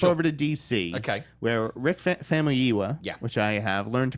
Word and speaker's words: Famuyiwa: Where Rick Famuyiwa, which I have learned to pronounce, the director of Dope, has landed The Flash, taking over from Seth Grahame-Smith.